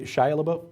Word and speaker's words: Shia LaBeouf: Billy Bob Thornton, Shia LaBeouf, or however you pronounce that kid's name. There was a, Shia LaBeouf, thank you.